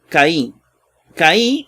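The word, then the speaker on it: καί: Lo primero que aparece es Caí. Caí, o que, ¿verdad? Porque la AI se pronuncia E.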